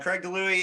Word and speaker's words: Craig DiLouie: Did I pronounce that correct? You did. Yeah, Craig DiLouie is an American-born, Canadian-living author of many genres, thrillers, horror, and in this case, a political dystopia.